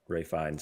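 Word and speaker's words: Ralph Fiennes: i know that um it's spelled like ralph fiends but ray finds is how you pronounce it i know that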